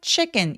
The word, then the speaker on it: chicken: Before ordering chicken 그리고 CH는 입술 쭉 내밀어 주시고요. 치킨 아니고 chicken 입술만 내밀면 소리가 굉장히 풍부해지죠.